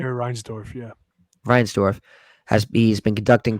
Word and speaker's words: Reinsdorf: Reinsdorf, yeah.